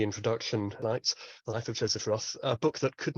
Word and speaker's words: Joseph Roth: He would have pronounced it Joseph Roth, but I follow Michael Hoffman's lead, Michael Hoffman being his main translator into English over the last 30 years. He says I anglicize him when I pronounce it Joseph Roth, so I'm going to do the same.